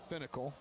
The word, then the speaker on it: Fennekel: And I pronounced Frank's name wrong. It's Fennekel.